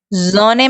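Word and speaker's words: Sonne: हमने क्या बताया था कि एस इक्वल टू हम जे प्रोनाउंस करेंगे, राइट। हाँ, याद आया। तो हम इसे जोने पढ़ेंगे, बट लिखेंगे क्या?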